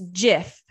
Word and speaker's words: GIF: the inventor said it's GIF. GIF. Okay. The inventor. Okay. So I don't know who the inventor is, but she looked it up. GIF. With a G, not a J, guys.